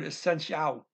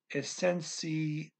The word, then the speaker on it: essencial: Now, we're ending with an L here, so the emphasis goes to the last syllable, okay? Kind of. Kind of. Because that little ooh is not emphasized, right? But the A-L is the last syllable here. And that it is emphasized, but only the A is.